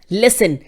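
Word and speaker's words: listen: सुनने को क्या बोलेंगे, लिसन, लिसन, टी साइलेंट है, टी नहीं है, लिसन।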